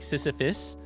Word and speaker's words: Sisyphus: I think it sounds like Sisyphus, but also if I had to pick which syllable sounded like a U, it's the second one. No, it's the first one, even though the second one is the one with the actual U.